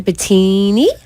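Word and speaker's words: Batayneh: And his name is spelled a little bit strange for the pronunciation. I only say it because if you want to search him on the net, you actually can spell his name B-A-T, like bat, A-Y-N-E-H. B-A-T-A-Y-N-E-H. His name is Dr.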